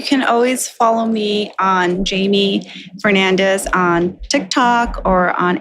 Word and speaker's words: Jhaimy: Especially now with UCLA, that's all Jamie's department, but I'm hoping to learn more about